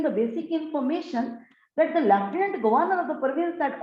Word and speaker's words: lieutenant: What is lieutenant? Just look at the spellings, dear students. L-I-E-U-T-E-N-A-N-T. But if we pronounce this word, it's lieutenant, not lieutenant.